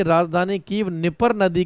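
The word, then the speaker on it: Dnieper: और यूक्रेन की राजधानी कीव निपर नदी के किनारे बसी हुई है। डी साइलेंट रहेगा, निपर रिवर या निपर नदी।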